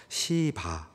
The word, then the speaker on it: 시바: 다윗이이 시바에게 다시 묻습니다 여러분이 발음을 잘 하셔야 됩니다 시바네 시바 경상도 엑센트가 앞에 있는데이 실을 세게 발음하시면 큰일납니다 오해받습니다네 제가 표준어로 해드리겠습니다 시바 시바에게 다시 묻습니다 4절입니다